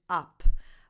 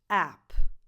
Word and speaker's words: app: This is pronounced app, app, up, app. The vowel, the correct vowel is a. So it's the same vowel sound that you have in cat, bad, man, app.